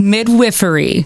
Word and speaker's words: midwifery: health women's specialty care how do i say that correctly it is midwifery it is the midwife practices midwifery it's funny even midwives before we go to school a lot of us don't know how to say it properly it's 12.